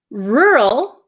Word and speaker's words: rural: no they don't so the first one rur my mouth barely moves R it gets tight for the r r rural the second word is